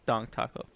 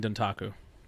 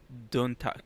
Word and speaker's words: Dontaku: Because I keep hearing Dong Taco. Wrestling Dontaku. Dontaku.